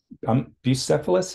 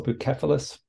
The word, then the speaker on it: Bucephalus: Bucephalus, is that how you pronounce it, or Bucephalus?